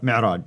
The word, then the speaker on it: Mi'raj: How do you pronounce it? Yes, Mi'raj.